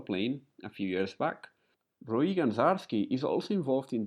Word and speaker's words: Roei: Hello, Roei. I pronounced it correctly?